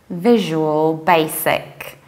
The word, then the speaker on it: Visual Basic: visual visual and then you don't say Daisy because there is no that we say basic there is s remember my film about